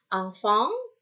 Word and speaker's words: enfant: Angfang, sengau di sini di hidung. Angfang, angfang, angfang. Sama ya bunyinya ya. Berarti en dan n itu bunyinya iya. Nyaris sama bingit.